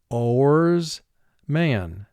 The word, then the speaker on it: oarsman: and so for spelling we pronounce it oarsman, and in conversation it's not a word you would use very often in English, but the word is oarsman.